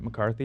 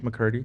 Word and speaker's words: McCurdy: And there other things like Jeanette McCarthy, is that how you pronounce her name? McCurdy.